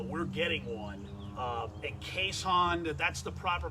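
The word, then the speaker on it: Keeshond: dog and uh we're getting one um and caisson that's the proper pronunciation keyshawn it's not a keyshawn johnson it's it's essentially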